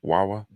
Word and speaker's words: Wawa: of people entered a Wawa I'm guessing I'm pronouncing it correctly Wawa w-a-w-a never been to Philadelphia and from seeing